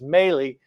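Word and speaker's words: Milei: Argentinian president I think his name is pronounced mey he came into a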